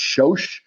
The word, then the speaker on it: Soos: It's pronounced Shosh in Hungary uh in Hungarian, but it means of salt or of the ground or of salt.